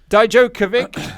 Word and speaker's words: Dijakovic: Then we got the in-ring debut of Dominik Dijakovic. Dijakovic, thank you. I've even written it out like phonetically, and I'm still getting it wrong.